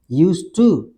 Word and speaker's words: used to: यूज टू, pronunciation वही आएगा दोनों का, यूज टू डी लगा कर, या ठीक है, क्योंकि ये टी अपनी आवाज ले लेता है, डी की आवाज नहीं आती इसमें।